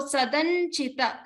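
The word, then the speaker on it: सदञ्चित: So Sadanchita. So remember to stress on the cha.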